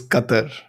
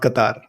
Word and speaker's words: Qatar: but s why are you calling it The Qatar GP and not Qatar GP I'm curious It's oh God okay has something to say because the actual pronunciation is Qatar it's not Qatar yes so am I being very British or